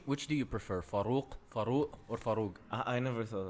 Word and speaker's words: Farouq: Farouq? Yeah, Farouq. Oh, so it's not like Keenan. Keenan. That's how he pronounced it. Keenan. Really? No, he says Kenan. No, he says Keenan. Keenan. No. Keenan. No, he doesn't. Well, sounds like well, this actually, it's Farouq.